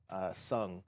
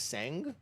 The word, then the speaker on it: Tseng: I always thought it was Sang or Tseng, but like when you watch the Avalanche children film, they say Sung. So call him Sung. The T is silent, apparently. And then I don't even